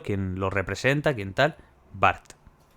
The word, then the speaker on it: Burt: Barth. O Burt. A lo mejor se pronuncia Burt y no Barth.